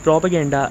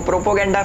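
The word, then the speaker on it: propaganda: करी anti India लिखो प्रोपो गेंडा फैलाओ प्रोपो गेंडा फैलाओ प्रोपो गंडा नहीं एलविश प्रोपेगेंडा होता है है नहीं हां इंग्लिश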